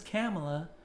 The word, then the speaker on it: Kamala: all of a sudden no my name is kamela so but she still hasn't answered tulsi's question